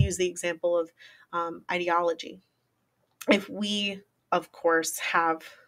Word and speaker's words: ideology: word um idea or brings to mind literally the word idea um it has a